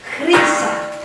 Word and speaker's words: Χρύσα: How you pronounce it? Sorry. Go ahead. I don't know. Χρύσα. Oh, Krisa. Yes. Krisa. Χρύσα. Krisa.